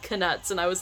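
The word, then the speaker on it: Knuts: And yes, it is canuts. It's not nuts. The K is not silent.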